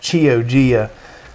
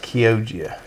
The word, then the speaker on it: Chioggia: Now, it looks like it's pronounced Chioggia, but it's actually pronounced Chioggia.